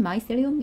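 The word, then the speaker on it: mycelium: 뜬 아이스 lamy 세림 얘는 발음은 마이스 엘름 일하고 있고요 자 우리 말로는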